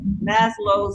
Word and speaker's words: Maslow: the the uh mass loads.